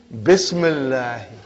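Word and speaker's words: بسم الله: If you took out B, how will you pronounce now? Ismullahi. What will you say? Ismullahi. Bring B, Bismillahi. Bismillahi.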